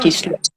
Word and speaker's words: Kislev: Sí, ¿Se pronuncia? Kislev.